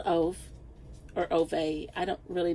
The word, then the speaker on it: Ove: I don't know how you pronounce this name, but you might say of, but I would say that this is a long O sound.